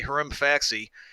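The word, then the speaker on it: Hrimfaxi: hoping it yours but you're supposed to say herim FAC see he say he's got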